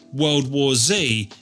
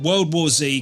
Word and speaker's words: World War Z: World War World War Zed. Ha. Let's clear that up for a start. I'm English and in my language, which is also called English, Z is pronounced zed.